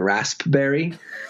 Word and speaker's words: raspberry: Or like I had a tweet and it was like, might fuck around and pronounce the P in raspberry.